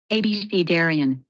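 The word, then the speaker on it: abecedarian: yeah abcarians yeah yeah I wonder how it's pronounced is there a yeah there it is ABC Daran so it's exactly like that so ABC Daran yeah ABC Daran ABCD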